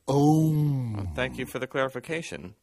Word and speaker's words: Om: It's pronounced Om.